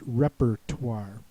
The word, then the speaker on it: repertoire: at a spelling bee, it was pronounced repertoire, which is maybe a little easier because you can hear that R. Uh, also be aware of the silent e at the end because it's oi r e.